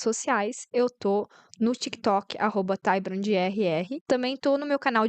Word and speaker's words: TaiBrandR: Mas tá lá meu Instagram, @TaiBrandR, Tai Brand R, o D é mudo, tá? De todas as plataformas. É Brand com D mudo.